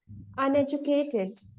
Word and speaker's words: uneducated: The next one, uneducated. You have to give stress. Uneducated.